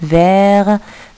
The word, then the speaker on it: vert: Vert, nous avons le T à la fin, c'est